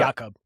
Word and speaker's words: Jakob: And it seems like a lot of those Olympians, like Yakov Schubert, who we were just talking about, mispronouncing his name. Is it Jacob or Yakov? Do you know? Jakob.